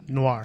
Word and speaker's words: noir: o i r yes Noir even Noir livedar it looks like newer newer well it's like film Noir okay you know